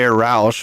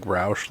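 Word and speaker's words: Rausch: So wonder if that's the same like is it spelled like Roush? Like R O A C H? It's R A U S C H. Oh like the car company. Yeah. like Rous Mustang basically.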